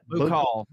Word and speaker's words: Buccal: seen you know what buckle fat implants are? Or no, it's not implants. Buckle fat removal. Buccal. That's how you pronounce it. Buccal.